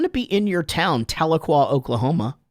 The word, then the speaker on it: Tahlequah: do I'm going to be in your town, Tahlequah, Oklahoma. How you pronounce it right?